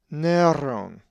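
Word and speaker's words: Νέρων: The accent is over the epsilon, so it is Neron.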